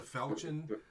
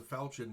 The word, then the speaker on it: falchion: actually actually hear what it's sorry it's a falcon um not a long i mean call it a long sword it's a falchion but hitting with it one-handed is like hitting